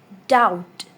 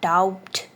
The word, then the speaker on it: doubt: Doubt, not doubt. It's doubt. Doubt. B is silent.